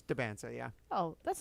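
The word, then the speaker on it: Dybantsa: Or is it DeBansa or Diabansa? No, I don't know how you spell it either. Why would you be so... DYBANSTA. There you go. It's DeBansa, yeah.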